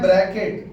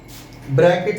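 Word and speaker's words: Brackett: इसको बोलते हैं ब्रैकेट। बी आर ए सी के E double T ब्रैकेट series और अगर आप N1 की जगह फाइव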